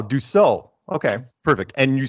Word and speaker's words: Dussault: doo doo is that Doo is that like sew like you're sewing like a you know some clothes oh do so okay perfect and you